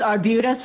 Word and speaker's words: Arbutus: Is that how correct pronunciation? It's Arbutus Florist.